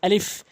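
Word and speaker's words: ألف: এখানে আলিফ আলিফ কোন টান হবে না টান দিয়ে পড়বেন না আলিফ সরাসরি বলে দিবেন এবং উচ্চারণ দিকটা যদি খেয়াল করি উপরের দাঁতগুলো নিচের টটে রেখে এভাবে উচ্চারণ করবেন আলিফ আলিফ আলিফ এরপরে রয়েছে হামজা হামজা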